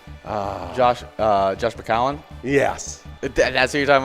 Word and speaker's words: McCown: Josh McCown? Yes. That's what you're talking about? Yeah. Okay. How many teams for Josh McCown? I think it's just McCown. Not McCowan.